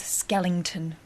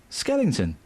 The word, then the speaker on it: skeleton: No ing in skeleton.